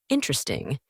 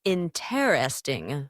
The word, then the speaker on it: interesting: Interesting. Instead of interesting, 4 syllables, it often becomes interesting, 3 syllables, in everyday speech.